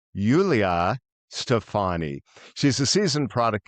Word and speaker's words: Yulia: Uh, Julia, well, it actually looks like Julia, Julia, but it's pronounced Yulia Stefani.